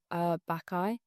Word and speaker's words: Bacchae: So I went the other day and saw Bacchae.